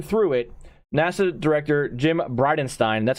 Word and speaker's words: Bridenstine: it NASA director Jim bridenstine that's how you pronounce it Bride of Frankenstein is how I remember it but Bryden Stein appeared before the Senate